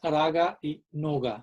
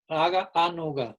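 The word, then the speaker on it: rāgānugā: Y anuga, raga anuga, no es raga y nuga, sino raga anuga, pero al juntarse las palabras obviamente se pronuncia como raga anuga.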